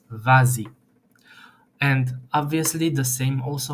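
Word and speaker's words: vas-y: becomes easier and uh the S at the end becomes pronounced as Z vazi and obviously the same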